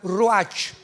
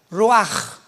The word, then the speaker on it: ruach: Apunta la palabra espíritu en el hebreo, es como suena ruach, R Raúl U-A-C-H, pero la CH en el hebreo se pronuncia como J, ruach.